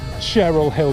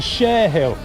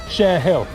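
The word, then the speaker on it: Cherhill: over there you've got not the Cheryl Hill monument, it's the Share Hill. Cheryl is spelt C-H-E-R-Y-L-L, Cheryl. That is spelt C-H-E-R-H-I-L-L, Hill, Share Hill. So up yours with your Cheryl Hill, it's Share Hill.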